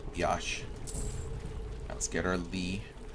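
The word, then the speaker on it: Lei: i'm over here yosh now let's get our lee it's pronounced not lay okay so i gotta go here mechanical door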